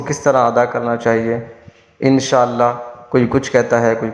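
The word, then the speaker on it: إن شاء الله: کوئی کچھ کہتا ہے۔ اس کا تلفظ اس طرح ہے، انشاء اللہ۔ اب انشاء اللہ، اللہ کے جو ہاء ہے اس کو وقف کی وجہ سے ساکن کیا جاتا ہے، پھر اس کو پڑھا جاتا ہے اللہ۔ پورا مکمل اس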